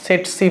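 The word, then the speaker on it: tsetse: through the byte of সেট সি ফ্লাই নামটা লক্ষ্য করো টি এসি টি এসি এটার উচ্চারণটা হচ্ছে সেট সি ফ্লাই এখানে ছবি দেওয়া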